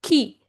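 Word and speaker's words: qui: So they are key q u ii is pronounced as ki which means who and ko ko which means have.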